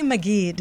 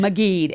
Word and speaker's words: Maggid: I didn't want to say your name again because I want to make sure I don't mispronounce it. Maggid. Maggid.